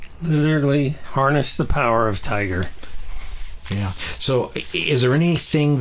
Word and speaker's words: TIGAR: TI g a r it's not not like the animal it's tigar but it's pronounced Tiger Tiger Health Technologies and